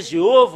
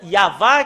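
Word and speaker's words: יהוה: Ça a changé Jéhovah ou Yahvé. Normalement, ça doit être Yahva qui doit prononcer. Et après, s'ils ont fait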